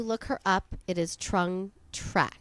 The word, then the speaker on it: Trung Trac: So when you look her up, it is Trung Trac. Trung Trac.